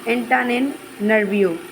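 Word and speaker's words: Antananarivo: एंटान नर्वियो। नेरिवो sorry Madagascar, Madagascar का जो capital city है वो कौन सा है? एंटान एंटान एंटाननर्वियो, एंटाननर्वियो।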